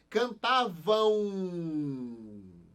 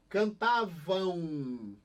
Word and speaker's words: cantavam: Cantavam. É o mesmo som desse daqui, é. Cantavam. Então, esse M, ele vai ter o som de quê? De U.